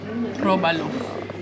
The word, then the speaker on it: róbalo: Robalo. Róbalo. Robalo. Con acento en la O, róbalo.